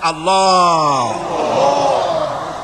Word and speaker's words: আল্লাহ: পাকের নাম উচ্চারণ হচ্ছে আল্লাহ মুখটা একটু গোল হয়ে যাবে বলেন আল্লাহ পৃথিবীতে বিভিন্ন জাতি তার